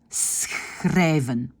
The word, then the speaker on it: schrijven: C'est un S, et puis c'est un « ch ». Donc, il faut bien savoir que le premier son est un S, ça ne doit pas être difficile, et le deuxième, c'est « tout à fait dans la gorge ».